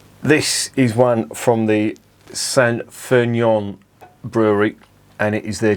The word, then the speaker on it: St. Feuillien: it into my head it's pronounced san fernion i think fulion is